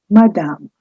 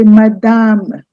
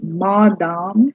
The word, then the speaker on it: madame: Here, the stress is on the second half of the word. So you say madame. You don't say madame. No, it's madame. The first ma is short and the next half is slightly longer, more stressed.